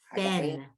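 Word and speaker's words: גפן: Fen, fen. The 3 dots are an F, a short E, like in the word red.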